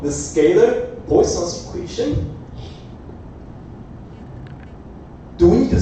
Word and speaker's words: Poisson: So this is fish in French. I try to learn the pronunciation, Poisson.